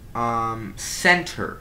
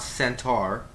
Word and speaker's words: center: Center, not centaur. Center.